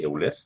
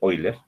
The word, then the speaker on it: Euler: Y una de las expresiones de Euler, o de Euler, no se pronuncia, decía lo siguiente: la carga crítica de